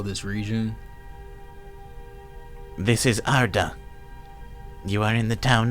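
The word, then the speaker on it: Ardah: This is Arda. You are in the town of Riversteain. Okay. Arda. I'mma just I'mma just write it off phonetically cuz I don't. It is a R d a h.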